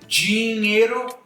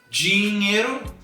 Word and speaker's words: dinheiro: Se eu tenho no início de uma palavra DI ou TI, aí eu já tenho uma mudança de pronúncia. Eu vou dizer dinheiro, dinheiro. E eu vou dizer também,